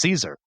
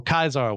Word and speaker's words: Caesar: He can't imagine a world where he doesn't get revenge against Caesar or Caesar, which is the actual correct Latin pronunciation, but I'm going to flip-flop between the two.